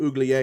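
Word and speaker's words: Uiagalelei: Um, That's what happened when you upgrade from DJ Uglier.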